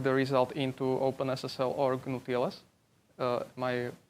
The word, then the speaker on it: GnuTLS: can just plug the result into OpenSSL or GnuTLS, am I saying it right?